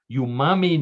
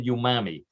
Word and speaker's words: umami: Umami notes of Oscar Mayer's iconic wiener, all topped with a signature swirl of, in quotes, mustard.